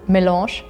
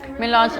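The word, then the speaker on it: mélange: Maybe I pronounce it milange. Oh yeah, it's French.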